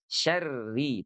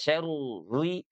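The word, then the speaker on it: شَرِّ: Syarri di sini walaupun ada tasydid tapi lihat dia bertanda kasrah sehingga dia dibacanya tipis saja terakik ya. Syarri, tidak syaruri, syaruri apalagi di-combine misalnya syaruri, tidak juga ya, agak susah ya.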